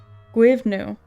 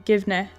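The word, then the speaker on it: Goibniu: The Irish name is pronounced phonetically as Gwivnu, with some variations including Givne.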